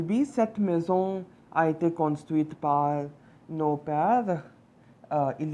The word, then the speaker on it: construite: So, cette maison a été construite with an E, construite. That's why we are pronouncing the last T, right? Because there's an E at the end.